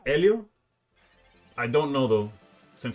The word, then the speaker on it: Helio: Yeah, it's Helio. Okay. And obviously in Spanish you don't you don't pronounce the H.